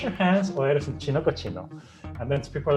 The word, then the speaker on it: cochino: Now cochino rhymes with chino, which is Chinese.